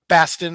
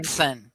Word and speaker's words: Batson: evidence relevant to Broadnax's Bastin. Am I saying that right? Bastin claim. Batson. Batson. Why am I saying it wrong? Batson.